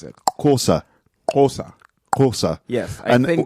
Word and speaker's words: Xhosa: I think XH is Ko.